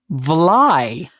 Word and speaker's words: vly: Hudson Valley Dutch shortened the Dutch valet but pronounced it vly and though their vly could be spelled vle